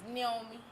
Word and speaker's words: Niomie: home in Africa, and the way it's pronounced is Niomie. Niomie. You know, so it's Okay. like, yeah, I might not even be saying it right because I have my little southern accent right now. But yes, it's not Niomie. It's the I is pronounced with the ni.